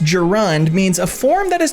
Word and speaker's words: gerund: Gand or present participle what's a Garand Gand pronounced gerund means a form that